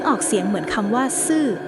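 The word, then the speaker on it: 死: ว่า ซื่อ ซึ่ง ออก เสียง เหมือน คำ ว่า ซื่อ ที่ หมาย ถึง ตาย เรียก ได้ ว่า แค่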